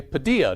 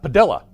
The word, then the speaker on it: Padilla: I've had students in my classes that when I call the role, I say Padilla, not Padilla.